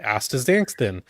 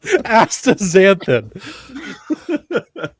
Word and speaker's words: Astaxanthin: Astaxanthin. Bless you. I'm fumbling. Bless you. On principle, I refuse True. to acknowledge that that's how it's pronounced.